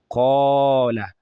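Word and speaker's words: قال: So, when you recite qaf, when you read qaf with alif coming after it, like qala qala. You can see the alif automatically takes the heavy sound of qaf. So, it has the aw sound. The alif in this instance has the aw sound. Qala.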